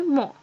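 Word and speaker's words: mon: Here, we don't pronounce this N, we just say mo.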